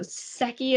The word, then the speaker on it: Secchi: would lower it down into the water so seki is spelled s-e-c-c-h-i for reference so when we have